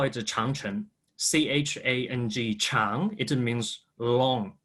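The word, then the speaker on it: 长城: In Chinese, we call it Changcheng, C-H-A-N-G, Chang. It means long. It's not means great, actually. The Great Wall is an English translation for the Chinese, but the Chinese way we call it Changcheng.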